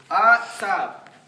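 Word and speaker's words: עצב: It spells out Atzab. Atzab. That's spelled AW-TSAB. Atzab. Everybody say Atzab.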